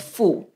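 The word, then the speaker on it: 妇: So it's pronounced as fu.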